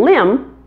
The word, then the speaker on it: limb: the two eye pronunciations climb has a long eye and limb has a short eye climb limb those vowel